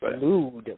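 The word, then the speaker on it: oud: So it's pronounced Lud, but it's spelled O-U-D. Not with you are O-U-D, not with the L at all.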